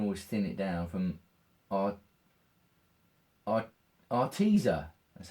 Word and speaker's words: Arteza: it, I can always thin it down from Arteza, that's how you pronounce it.